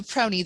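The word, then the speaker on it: PRONI: p r o i acronym is do we pronounce that proney that's how i say it okay so proney the public record office of northern ireland nick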